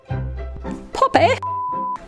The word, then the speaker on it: Poppy: Poppy! I'm sitting on something. I have to say her name in English. Otherwise, people think I'm saying poppy, like Spanish poppy. Oh, Like P-A-P-I.